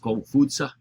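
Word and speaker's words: Kongzi: But their names are more correctly pronounced Confucia and Mengsa.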